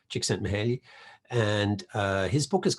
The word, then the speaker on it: Csikszentmihalyi: Csikszentmihalyi. Took me years to learn to pronounce his name properly, and with the assistance of a Hungarian academic friend, Csikszentmihalyi.